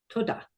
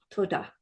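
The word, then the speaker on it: תודה: In Hebrew, it's just one word, toda. For any of you that are in New Zealand, this should be really easy because the way they say thank you is ta. Well, this is kind of like that, only it's toda.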